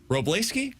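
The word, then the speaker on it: Wrobleski: Robski, is that how we're pronouncing this? Robski with a W. He said, yeah.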